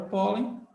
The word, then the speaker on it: pólen: e agora você faz quem é a sílaba forte de po po po é o pó é o pó tá é o pó se é o pó você então tá com uma palavra que a penúltima sílaba é forte A2 A2 é chamada